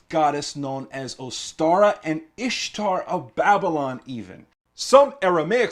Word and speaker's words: Ishtar: known as ostara and ishtar of babylon even some aramaic speakers could not properly pronounce the sheen in ishtar and they rendered it istar and estar it's very important to